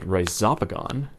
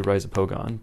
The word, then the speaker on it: Rhizopogon: a little what's called rhizopagon I usually say rhizopogon but Alan Rockefeller uses this pronunciation of rhizopagon and I think it